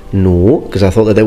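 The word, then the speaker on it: 弩: Now, as you can see, I have already mentioned the crossbow, which in Chinese is pronounced nu, because I thought that there was a very interesting piece of information.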